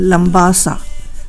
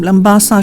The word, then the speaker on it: Labasa: And Labasa doesn't have an M. The spelling is Labasa.